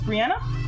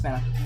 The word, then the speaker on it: Benna: Her name is Brianna. Or, Benna. Benna, it's Benna. I said it wrong.